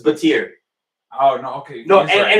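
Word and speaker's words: Battier: It's Batir. It's Batir.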